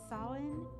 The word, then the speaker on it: Samhain: If you said Samhain, you are correct. It was spelled like this, Samhain.